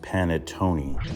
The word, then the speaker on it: panettone: It's pronounced panettone.